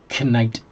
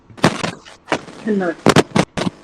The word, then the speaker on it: knight: Knight. Knight. Yeah, like knife or knuckles.